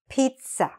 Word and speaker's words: pizza: Pizza. Okay, you can see I've written it here. And what's written in capital letters is what should be stressed. So we stress on the first part here.